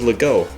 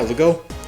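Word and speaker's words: Legault: Next up is Lego, and I'm pretty sure that's how you say it. If you say Guy, like Guy, I think it makes sense to say Lego, like Lego, but you know, what do I know?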